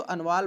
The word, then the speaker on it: अनवाल: अब जो अंडवाल शब्द यहाँ पे है तो ये थीसिस में अनवाल नाम से मिला है, टी साइलेंट, इसको अनवाल बोलेंगे।